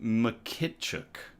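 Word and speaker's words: Mykytczuk: It's Ukrainian origin. Ukrainian surname Mckituk. Okay. Mkituk mkituk mkituk mkituk.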